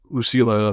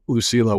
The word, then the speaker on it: Lucilla: And that's when Commodus and his sister Lucilla, yes, Lucilla, I believe is how you say it, they show up, and that's when very pompous Commodus shows up.